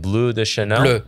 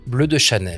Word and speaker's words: Bleu de Chanel: Is it Bleu de Chanel? Bleu. Bleu de Chanel.